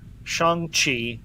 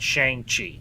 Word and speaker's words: Shang-Chi: With Shang-Chi, and I was actually corrected on this last night, it is pronounced Shang-Chi, not Shang-Chi.